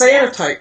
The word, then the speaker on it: cyanotype: Yes, cyanotype.